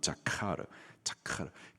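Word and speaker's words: זכר: 기억하다, 히브리 단어의 발음으로는 자카르, 기억하다.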